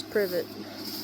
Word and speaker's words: privet: That's how it's pronounced is privet.